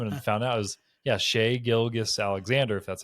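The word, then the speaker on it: Shai Gilgeous-Alexander: Shay Gilgus Alexander. Shay is spelled S Hi.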